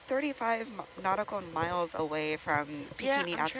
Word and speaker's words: Bikini: So, the way we pronounce bikini is pikini.